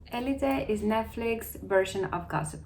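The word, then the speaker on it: Élite: For confusion, I'm gonna call it Elite because it's a Spanish show and that's how you pronounce it in Spanish, so Elite. I know many people who speak English call it elite, but the correct pronunciation is Elite.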